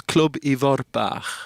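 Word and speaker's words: Clwb Ifor Bach: Now you say it, Club. It's Club Ivor Bach. Right. You see, I never said it right.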